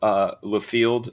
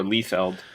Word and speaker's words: Liefeld: was Rob Liefeld or Liefeld. I did not know it was Liefeld. I got Rob right. Like, I don't ever get why people get it right. It sounds it sounds exactly how it's spelled.